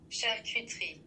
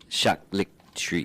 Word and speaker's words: charcuterie: This is how it's pronounced. Charcuterie. Charcuterie.